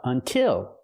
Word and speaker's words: until: And what about until? It's the same sound, because the stress is on the second syllable. Until has two syllables, but the stress is on the second syllable, so we use the I sound like this is. Until.